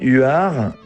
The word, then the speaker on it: Huards: d d and Ur you have six letters but you just pronounce three the U the A and the R so R It's Like Ur r r is like art but without the T and U it's the French u u are the domain